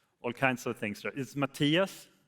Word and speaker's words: Mattias: Um the first thing is that people a lot of people they can't pronounce my name right I get a lot of Matias Matias Matis and all kinds of things is Matias u so the other thing that annoys me